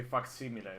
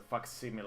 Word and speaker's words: facsimile: Or a reasonable facsimile, which is actually Latin, so I actually want to say facsimile, but I guess, yeah, if you wanted to pronounce it in English, that's a facsimile, I guess, or something like that.